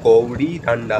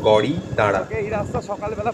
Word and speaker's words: গড়ি দাঁড়া: জায়গাটার নাম অ্যাকচুয়ালি বাংলায় যদি উচ্চারণ করেন তাহলে গৌড়ি ডান্ডা হবে, গৌড়ি ডান্ডা, কিন্তু নেপালিতে ওটা গড়ি দাঁড়া।